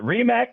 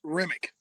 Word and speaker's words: Remick: Is it Remac or Remick for the people that don't know? Tomas Remick. Tomas Remick.